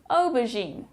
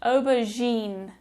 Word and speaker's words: aubergine: Aubergine. This G is actually a soft G, which is not so common in English.